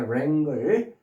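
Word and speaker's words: wrangle: WR로 돼 있는 W는 발음이 안 되고요. 그다음에 랭글 WR로 된 것들은 다 의미가 부정적이라고 그랬어요.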